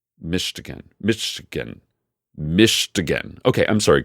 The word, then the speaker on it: Michigan: snitch so to start it seems I've been mispronouncing Kareem's home state of Michigan how do you say it Kareem Michigan right that's what I'm saying Michigan migan Michigan mishigan Michigan mishigan okay I'm